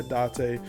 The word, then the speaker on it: Date: Date's name in Japanese, pronounced, yeah, Date.